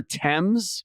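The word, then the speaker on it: Thames: you say themes do you mean the river TS but it looks like th TS excuse me th themes what t h mes yeah yeah it looks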